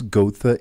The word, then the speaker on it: Goethe: Emmanuel, let's talk about this initiative and please help me pronounce Goethe Institute.